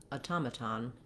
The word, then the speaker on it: automaton: to pronounce automatic and automaton. So these words look fairly similar, but sound rather different because of where the stress falls in the word. That makes the vowel sounds change.